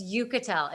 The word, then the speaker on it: Uchitel: It's Uchitel. It's like Okay. you can Rachel Uchitel. Uchitel. Is that how I say it? Say it one more time. You just say it. Uchitel.